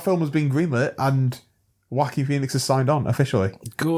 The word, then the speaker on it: Joaquin: Joaquin, yeah. Joaquin. For years I thought that was how you pronounced it.